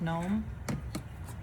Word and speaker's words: gnome: Um, and she she's like, "You know that the E is not pronounced at the end of gnome."